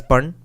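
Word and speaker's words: pana: daily wage of one Panna p-a-n-l it's pronounced as pun the king shall give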